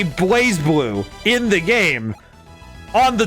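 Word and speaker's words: BlazBlue: it that way and that is the title of blaze blue which they used to call it Bas blue and I'm thinking where's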